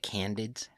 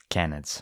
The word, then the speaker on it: canids: And as far as canines go, or can't How do you say it? Candids? Canids.